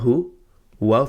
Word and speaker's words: هُوَ: Next, ha dhamma hu, waw fatha wa, huwa. We say them separately, we spell them separately, but we're saying them together because they are in one word. Qul, huwa, 2 separate words.